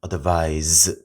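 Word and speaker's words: advise: 여기 보면은 자 advice 자로 끝나게 되면은 명사로서 조언 충지만 SE로 끝나면 advice 발음도 약간 여기가 z 발음 z바 advice라고 발음해 주고 중고하다.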